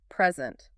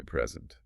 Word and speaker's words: present: And similarly, P resealable, present. That's a noun, a gift. Present. Like a birthday present, right? But stress the second. Present. Now it's a verb. To present an idea.